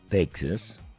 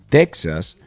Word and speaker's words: Texas: se pronuncia teja o pronunciaban la X La pronuncian con j entonces pues como es